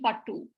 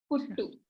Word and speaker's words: puttu: So it's saying Pattu. So that's not how it is pronounced, right?